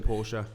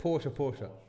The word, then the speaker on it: Porsche: I think we're both going because I haven't seen the Porsche. The Porsche. It's not Porsche. It's Porsche. It's Porsche. No, it's not. Well, Nick, is it Porsche?